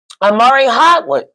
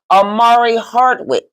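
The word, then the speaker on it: Omari Hardwick: right what we got next we got um Amari hardwood said start a hard week I said his name wrong I have my apologies Amari Hardwick said star sent out the Batman single asking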